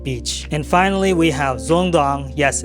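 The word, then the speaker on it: Dương Đông: and finally we have zong dong yes it's pronounced zong dong this is where I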